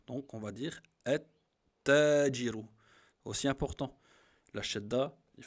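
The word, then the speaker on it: التاجر: Le ta, on va dire at-tajiru. Vous voyez? C'est comme, on a dit que le lem, on ne le prononce pas. Et on rentre dans la shadda directement. Donc, on va dire at-tajiru.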